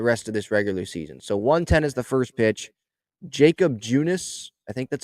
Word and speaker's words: Jakob: Jacob Junis, I think that's how you say his name. It's Jakob.